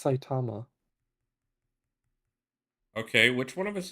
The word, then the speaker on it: Saitama: It's pronounced Saitama.